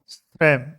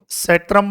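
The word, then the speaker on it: Schramm: According to श्रैम, सेट्रम बोल दो या श्रैम बोल दो, एक इधर प्रोनाउंसिएशन पे मत जाना, है ना, इसको सेट्रम भी बोल देते हैं कई बार, है ना, ये ध्यान रखना।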